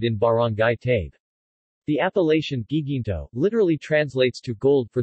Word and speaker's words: Guiguinto: The Spaniards substituted Guay with hard G for the Tagalog Hi. The place has since been called Guiguinto.